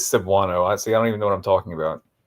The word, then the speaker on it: Cebuano: I wonder if I'm pronouncing the name of that correctly. It's not Cebuano, is it? Let's see what Wikipedia has to say about that. It is Cebuano.